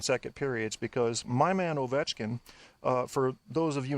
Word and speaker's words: Ovechkin: periods because my man Ovechkin, for those of you not in the know, the Russian pronunciation is Alexander Ovechkin.